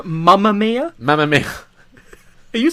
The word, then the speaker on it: Mamma Mia: Is it Mama? Yeah. Are you sure? Mamma Mia? Yeah, Mama. Mama? Yeah, it's not spelled M-U-M-M-A. It's not Mamma Mia.